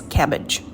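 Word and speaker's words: CABG: coronary artery bypass surgery c a b s it's pronounced as cabbage the surgical procedure is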